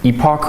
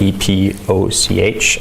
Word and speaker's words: epoch: write down here is an epoch or epic some people pronounce it differently it's spelled e-p-o-c-h i say epoch and then epoc is